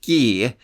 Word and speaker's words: Guy: written as guy but it's pronounced ghee as in the sound of someone screaming as he murders them yeah that's made very